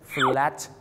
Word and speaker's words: flat: ออก ซะ แฟช ไทย ที่ จริง แล้ว นะ ครับ ต้อง เป็น Flat Ti สิ ครับ ผม นะ ฮะ เพราะ ปัญหา คือ คำ ว่า แฟต มัน มี ตัว L ด้วย นะ ครับ ผม ก็ ไป ข้าม ซะ ครับ แฟต เนี่ย นะ ฮะ ดัง นั้น ครับ